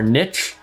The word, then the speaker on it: niche: So the final thing is Niche Scraper. I don't know if you guys pronounce it niche or niche. Everyone pronounces it differently. I'm a niche guy, you know, it's like quiche, but niche.